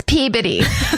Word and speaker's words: Peabody: that are like, "It's Peabody or some Massachusetts loves to not pronounce anything the way it looks." Silent. It's just body and and how dare you not know it.